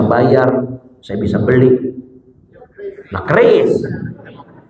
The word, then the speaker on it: keris: Nah keris, bacanya keris itu yang benar, bukan QRIS.